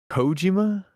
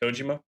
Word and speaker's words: Kojima: Cojima. Oh, is that how you say it? Cojima.